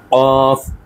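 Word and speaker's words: ق: আলা তারপরে আমাদের রয়েছে অত্যন্ত গুরুত্বপূর্ণ একটি উচ্চারণ সেটি হচ্ছে কফ কফ কফ গলার ভেতর থেকে বলতে হবে দেখুন এখানে কিভাবে দেখানো হচ্ছে কফ কফ কফ গলার ভেতর থেকে কফ তারপরে আসছে কাফ কাফ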